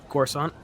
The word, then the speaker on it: Coruscant: Coruscant.